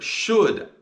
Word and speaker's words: should: this word should and the sounds of should are sh D should and this is one of those words that you might have to learn by heart CU it's got a u and a l in it that you don't hear and our challenge word